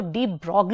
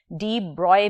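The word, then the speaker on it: de Broglie: किया डी ब्रॉय ने इसको डी ब्रॉग भी कुछ लोग प्रोनाउंस करते हैं और आप इसे डी ब्रॉय भी प्रोनाउंस कर सकते हैं सो डी ब्रॉय हाइपोथेसिस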